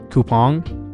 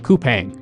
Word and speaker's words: Coupang: on the long side kpong am I saying that right C I was saying it wrong the whole time coupang coupang so I'm going to